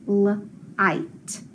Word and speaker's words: light: Remember, there's something special about the trigraph of IGH. It just says the sound I. That I makes a long sound, and that G and H both get crossed off because we don't hear them. They're silent. So when I sound it out, it says light, light. So candle, light.